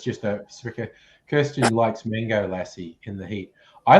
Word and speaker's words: lassi: soup wait a minute the dog the dog pronounced the same l-a-s-s-i lassie a yogurt drink indian's